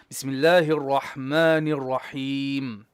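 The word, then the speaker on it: بسم الله الرحمن الرحيم: Bismillahirrahmanirrahim. Your ra needs tikrar. Bismillahir Rahmanir Rahim. Bismillahirrahmanirrahim. Ra, tongue. The tongue has to beat once and twice, up and down. Ra, ra, ra.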